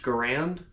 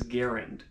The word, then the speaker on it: Garand: it simply as this the rifle is traditionally pronounced garand whereas the designer is guarant now whether the rifle